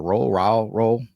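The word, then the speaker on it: Roehl: So you had Coach Morton, Hank Fraley, Coach Shaw, the tight ends coach, Tyler, I forget how to pronounce his last name. Is it Roll? Yeah.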